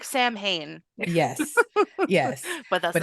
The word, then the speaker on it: Samhain: Oh, it's called Stalker, Saviors, and Samhain, or like Samhain. If you don't know what that is Halloween. It So looks like Sam Hain, yes, yes, but that's but it's not how you say pronounced it.